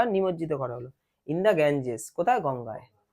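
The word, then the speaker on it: Ganges: বিসর্জন দেয়া হল বা নিমজ্জিত করা হল ইন গ্যাঞজেস কোথায় গঙ্গায় গ্যাঙ্গেস ওটা গ্যাঞজেসটা ভালো উচ্চারণ হয়ার যেখানে হিউজ ক্রাউড হিউজ মানে বিরাট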